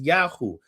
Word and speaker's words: Yahu: If yay wave were the original spoken form, we would expect to see it reflected directly in names. In instead, what we see consistently and overwhelmingly is Yahoo. This strongly suggests that Yahoo